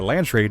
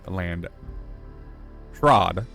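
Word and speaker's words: Landsraad: I did use one of my Audible credits to pick up the first book, and a land trade is actually land trod, so been pronouncing that wrong the entire time.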